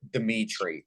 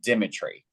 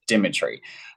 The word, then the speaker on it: Dimitri: My name is not Demetri. I am Dimitri. It's a different spelling. It's spelled Dimitri, so it's pronounced a little bit differently. It's Dimitri. Demetri, it's a different name. I mean, it's the same name, but different variations of spelling it and saying it. So I'm Dimitri.